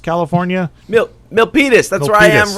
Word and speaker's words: Milpitas: on the 15th in what how do you pronounce that milk nopiptus california milpitas that's where i am right now milpitas california